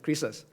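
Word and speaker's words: Croesus: as you might guess the name creases is of great origin and I yes I turn to Google to find out how to pronounce it apparently that's the way you pronounce it creases I hope Google is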